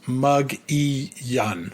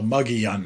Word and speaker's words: Mogollon: o n the Mogollon Monster, but apparently it's pronounced Muggyun. So, Muggyun Monster.